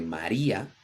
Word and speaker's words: María: El diptongo no se crea cuando hay 2 vocales seguidas. Una de ellas es U o I y lleva tilde, como por ejemplo en el nombre María o en la palabra día. En este caso, las 2 vocales seguidas se dividen en 2 sílabas diferentes.